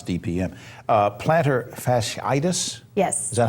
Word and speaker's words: plantar fasciitis: ask her to to to pronounce DPM uh planter fasciitis yes is that how it's pronounced plantar fasciitis and it's commonly known as Hills Spurs hillspur